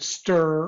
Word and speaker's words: str: very similar to the command stir or str or structure depends on how you want to pronounce it but str are the